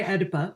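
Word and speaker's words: Oedipa: simple reason which is so her name is Edipa or Edypa as the female version of Edypus. Um and the reason I'm going to say Edipa in the American style is because her friends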